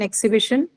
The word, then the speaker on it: exhibition: Exhibition, correct. Four, and your B is the one that is stressed because you have the shin suffix. Okay, the penultimate syllable B is stressed.